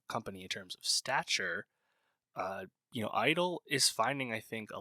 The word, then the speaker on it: (G)I-DLE: Yes, I-DLE, the G is silent.